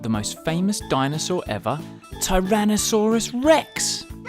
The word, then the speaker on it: Tyrannosaurus rex: most famous dinosaur ever tyrannosaurus rex how do you say that again tai ra na saw rus rex it's often called t-rex